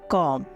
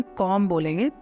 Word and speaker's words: comb: जैसे कि COMB, कॉम, COMB, कॉम, यहाँ पे हम कॉम बोलेंगे ना कि उसको कॉम्ब बोलेंगे।